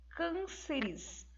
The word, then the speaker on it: cânceres: E nesse contexto, né, nós vamos perceber que a sílaba tônica é a antepenúltima.